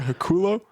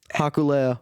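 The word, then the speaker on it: Hikuleo: for Hakulo? That's not his name. And you said it wrong again. Hakuleo. Hakaleo?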